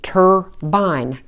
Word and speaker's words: turbine: Your student sees that R is being is controlling the U for R controlled. And we have our magic E controlling the I. Makes the I say its name for for a magic E syllable. Student now reads turbine.